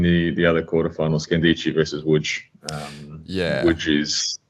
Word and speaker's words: Łódź: So it looks like Lodz. Yeah. But the L with the line through it is a W. There's an O with it, so it's Łódź.